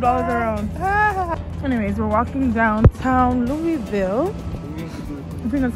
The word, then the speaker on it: Louisville: Louisville, Louisville, Louisville. I was saying Louisville. I don't care what, because that's how it's spelled.